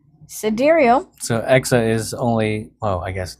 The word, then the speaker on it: Exa: Exa, pronounced like the metric prefix exa, it references the supercomputing term exaflops.